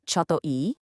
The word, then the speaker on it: ちょっといい: It's pronounced choto e.